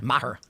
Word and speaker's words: Maher: How do you pronounce his last Bill name? Maher.